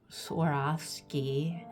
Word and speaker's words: Swarovski: I just yesterday glued 2 Swarovski, is how you're supposed to pronounce it, I've heard, crystals in her eyes.